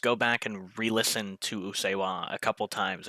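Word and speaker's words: Usseewa: I oh, heard it, and I believe you said it's pronounced Usewa.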